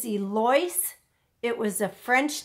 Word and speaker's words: Eloise: L Oh is V which most people pronounce Eloise but my grandmother raised her telling her her name is Elise it was a French